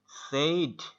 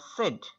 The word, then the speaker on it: said: আমি সেটাই বলছি আমরা সাধারণত কি করি সেইড সেইড বলি না হ্যাঁ কিন্তু said। আসল উচ্চারণ কি সেইড না সেড আসল উচ্চারণ কি হচ্ছে সেড হ্যাঁ হি সেড দ্যাট।